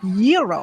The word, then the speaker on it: gyro: Gyros I order the gyro Supreme suddenly the lady behind me chimes in it's pronounced Euro then the fell behind her says it's a gyro I turn my back